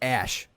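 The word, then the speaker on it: Æ: it AE a 12 the AE is pronounced ash that's all I know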